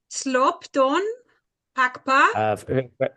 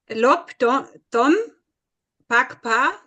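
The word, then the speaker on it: slob dpon 'phags pa: Forget the S. Just the Slop don. Can you spell it, please, that I can learn? Yeah, so I highlighted the letters to pronounce. So without no S, just say lob.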